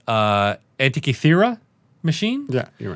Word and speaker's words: Antikythera: So for absolutely no reason, Voller has the, I believe it's pronounced Antikythera machine.